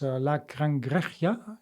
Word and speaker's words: La Cangreja: I don't know how to pronounce that one, but La Cangreja, is that about it?